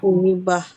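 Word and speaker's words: مصيبة: Nah, jadi kemudian ada musibatun. Kalau berhenti jadi apa, Bu? Dibacanya musibah.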